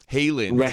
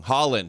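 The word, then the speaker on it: Haaland: Um Halen, we're saying it wrong. Holland. It's Holland. Holland.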